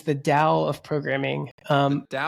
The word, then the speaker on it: Tao: So, you can say towel, but I think most most folks actually pronounce it dao, even though it's spelled with a we pronounce it dao. Yeah. So, it's the dao of programming.